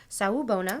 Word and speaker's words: Sawubona: Sawubona.